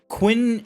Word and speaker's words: Qin: a Japanese sumo wrestler, Qin Shi Huang, the founder of the Qing... How do you say it? How's it spelled? Qin. Qin Shi Huang, from the founder of the Qin dynasty in China, Nikola Tesla, Leonidas, Soji Okita.